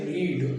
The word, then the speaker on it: read: अब आती एक वर्ब होती है रीड यानी पढ़ना, जिसका सेकेंड थर्ड फर्स्ट एक ही जैसा होता है, उच्चारण बदल जाता है।